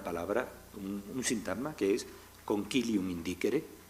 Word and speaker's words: concilium indicere: Entonces, celebrar cortes, pues crean una palabra, un sintagma que es concilium indicere, o si queremos pronunciarlo con la pronunciación italiana, concilium indicere.